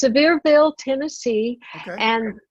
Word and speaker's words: Sevierville: Looking at your bio, it looks like you were born in, if I pronounce it wrong, let me know. Is it Sayreville? Is that how you say it? No, it's Sevierville, Tennessee.